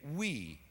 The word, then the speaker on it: Oei: His name is David Wee, which does sound tiny, but it is not spelled W-E-E, it is spelled O-E-I.